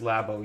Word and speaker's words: Labo: It's pronounced Labo, you hack.